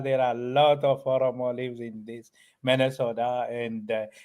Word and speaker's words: Oromo: And speaking about the different types of the societies that are there in Oromo, I'm pronouncing it right?